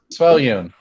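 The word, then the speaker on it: Svyelun: Svellion.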